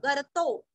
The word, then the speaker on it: गर्तो: महागर्तो, गर्तो ग के ऊपर आघात, आधा र, गर्तो।